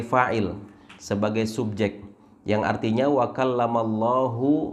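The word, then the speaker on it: وَكَلَّمَ ٱللَّهُ: sebagai subjek yang artinya wakallamallahu Musa taklima yaitu Allah yang mengajak berbicara kepada Musa tapi kemudian misalkan ada seorang Imam salah bacanya dia membaca wakallamallaha Musa taklima menjadikan lafzul jalalah ini mansub sebagai objek yang artinya Musa yang mengajak bicara kepada kepada Allah nah ini fatal akibatnya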